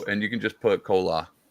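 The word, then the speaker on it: Chola: So and you can just put cola like cola. I can spell it out for you or you just write C O L A.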